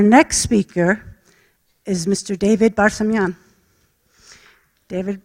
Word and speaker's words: Barsamian: David Barsamian. David, I pronounce it as the Palestinians do with the community there, so I think I pronounced it properly, right?